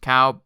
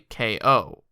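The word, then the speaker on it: Kao: get cow the kangaroo so apparently it's not pronounced cow it's actually KO oh I see what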